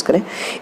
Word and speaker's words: Carew: एक बार ज़रा ध्यान से समझने की कोशिश करें। इनका जो नाम है वो लिखा ज़रूर कैरियो के जैसा जाता है, लेकिन इसको प्रोनाउंसिएट कैरी करके किया जाता है, ठीक है।